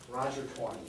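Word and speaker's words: Taney: Supreme Court was a fellow named Roger Tor Roger 20y it looks like it's pronounced it's actually uh but it's actually pronounced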